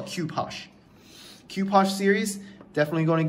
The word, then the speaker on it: Cu-Poche: a kopo kopo sure I don't know how to pronounce it cue posh I think that's the correct pronunciation a lot of people